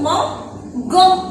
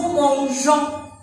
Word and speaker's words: mangeons: Pour garder la même prononciation, on va ajouter un E. Nous mangeons.